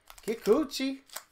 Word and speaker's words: Kikuchi: Yusei Kikuchi? Kikuchi.